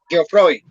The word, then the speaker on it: Geoffroy: No, es de uno que Karencita estaba diciendo Geoffroy, pero es como es francés, entonces la J, perdón, la G se pronuncia como Geoffroy.